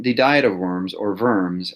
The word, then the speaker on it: Worms: diet of worms or worms as it's known because the Germans pronounce their W's as V's um the diet of